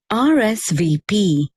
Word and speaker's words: RSVP: sentence is pronounced as rsvp although r is a consonant it begins with the vowel sound ah so the indefinite article